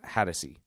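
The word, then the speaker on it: Hatosy: I think you pronounce it Hattersey.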